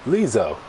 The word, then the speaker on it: Lizzo: No, not Liza. Lizzo. I think that's how it's pronounced.